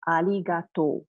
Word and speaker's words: arigatou: So R sounds are more like the L sound instead. Okay, so we pronounce it as arigato, arigato.